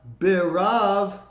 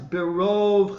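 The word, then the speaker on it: בְּרֹב: in the second line, the second word is not berav chasdecha, it's berov chasdecha. It's that big enlarged kamatz again that that's there to tell you to pronounce that O instead of A.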